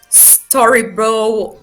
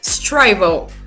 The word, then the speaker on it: Strybo: basically my name is streibo so yeah it's not storybo or streevo it's strivo which means that rhymes